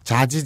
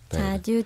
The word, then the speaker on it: 자주: 해요 자주자주 하거나 네 발음을 주의해 주세요 자지 자지 해요가 아니라 자주 자주자주 자주 자주 아 어렵다 바